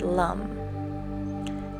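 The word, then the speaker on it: lam: its seed sound is lump it's written l-a-m but pronounced Lum l-u-m this sound will contract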